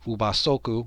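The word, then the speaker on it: ubasoku: puas and they were known as ubas soku which which is the Japanese way of pronouncing ubaka if those oku were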